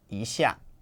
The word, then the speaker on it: 一下: when you're counting but when it precedes a word that's a fourth tone it changes to a second tone so it's isha so what function does